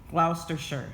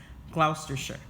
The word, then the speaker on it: Gloucestershire: murdered at Berkeley castle and clout is it's pronounced Gloucestershire so you see it looks like it says Wow caster Shire but it's Gloucestershire although Isabella and Mortimer initially governed Edward the